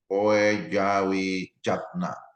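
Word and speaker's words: Poedjawijatna: Ini jangan lama ya, Puja Wiyatna, Puja Wiyatna, itu cara bacanya.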